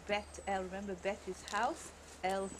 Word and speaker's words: Beth-El: Or Beth-El, I don't know how you like to pronounce it. In Hebrew, Beth-El.